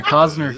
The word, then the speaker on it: Cossner: Yeah, Cossner can just talk normal.